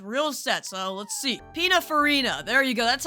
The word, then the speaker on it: Pininfarina: Pininfarina.